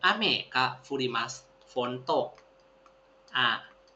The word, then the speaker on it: 雨: คันจิ นะ ครับ อ่า อัน นี้ อ่าน ว่า อเม ว่า ฝน เนาะ มัน ก็ เหมือน ฝน